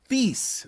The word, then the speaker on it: Thies: Thies. That's how you pronounce it. Thies.